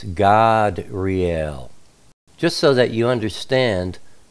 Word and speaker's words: Gadreel: generally you would say gadreel or gadreel the way it's spelled but you know back in those days ancient times the a is always pronounced ah so it's God real just so that you